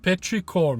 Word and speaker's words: petrichor: means, of course, and I'm hoping I'm saying it correct. Petrichor, petrichor, you know, the second last song on the album. So Robyn, what was all that about? So petrichor, you are pronouncing it right.